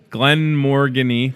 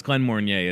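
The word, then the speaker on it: Glenmorangie: Glen Morgany. Doesn't that look like Morgany? Glen Mornier. Is that what it is? It's Glen Mornier, isn't it?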